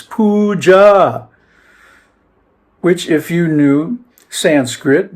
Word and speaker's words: puja: It's puja which if you knew Sanskrit donaguri or you